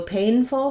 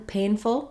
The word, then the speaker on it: painful: the word painful so painful has first syllable stress letters a i will say that a diphthong we sometimes spell that with a y you'll see it in the dictionary with uh this is how we represent the a sound but a i a y are both pretty common spellings for that sound so thinking about pay